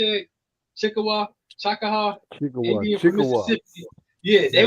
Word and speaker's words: Chickasaw: Chickasaw, Indian from Mississippi.